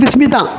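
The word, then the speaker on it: بسم: எல்லாம் பேசும்போது உச்சரிக்கும் போது பிஸ்மி தான். எழுத்து வடிவத்தில் பி இஸ்மின்னு இருக்கும், அலீப் இருக்கும் அந்த இடத்துல. அது பிஸ்மி தான் வாசிப்போம்.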